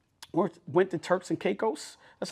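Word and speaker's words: Caicos: Um, went went to Turks and Caos.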